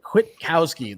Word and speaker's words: Kwitkowsky: But Kwitkowsky, that's how you pronounce that, ladies and gentlemen.